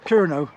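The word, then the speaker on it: Kernow: Kerno.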